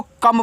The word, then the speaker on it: come: तो COME को कम पढ़ते हैं।